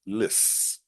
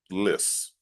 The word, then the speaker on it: lissom: So regarding pronunciation, pay attention to the stress on the first syllable, lis, lis. Another thing to keep in mind is that lissom often implies a level of elegance or grace.